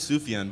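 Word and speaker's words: Sufjan: It 100% is Sufian.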